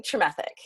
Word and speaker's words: Tremethick: I'm Helen Tremethick.